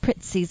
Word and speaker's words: Prizzi's: prizes no I know but the way you pronounce it Prizzi's honor thank you gotta be hard on that